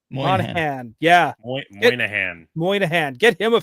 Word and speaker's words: Moynihan: Moynihan. Moynihan.